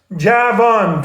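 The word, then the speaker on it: جوان: Javan, 2 syllables. It's a tie between Persian and English words. Java juice keeps you young. Van, Javan, minivan, Daniels, van shoes, youthful joy of life in van shoes.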